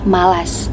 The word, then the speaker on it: malas: malas menujuk pada KBBI kata yang benar adalah malas menggunakan fonem a bukan e kesalahan pengucapan ini sering